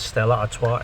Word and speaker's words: Stella Artois: properly here stella artois yes it's pronounced as stella atoa as the beer name okay and it's